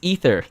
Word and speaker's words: Aether: Like, "Oh, no, it's it's it's Aether." Like that's how that's how it was intended to be pronounced, I guess.